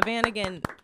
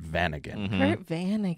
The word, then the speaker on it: Vanagon: way round of applause so a Vanagon is a Volkswagon Vanagon bus it's a type of car and I think you should spell it because it sounds like you're saying van again like a two-point really yeah